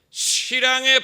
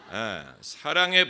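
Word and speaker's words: 시랑: 세력에 붙인 바 되어 실랑의 밥이 되리이다. 아까 읽을 때 보니까 여러분 사랑이라고 읽으시던데 그건 노안입니다. 사랑의 밥이 아니고 실랑의 밥이, 실랑은 늑대와 같은 들짐승이.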